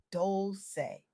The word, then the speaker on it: Dolce: I'm Dolce, pronounced Dolce, and today I'm sharing revolutionary insights from my